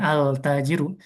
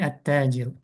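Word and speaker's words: التاجر: Attajiru misalnya bukan altajiru tapi attajiru.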